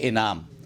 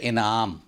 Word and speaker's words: انعام: بولیں۔ 34 نمبر پر اس کو بولتے ہیں انعام، اور انعام رائج بھی ہو گیا ہے، لیکن اس کا صحیح تلفظ ہے انعام۔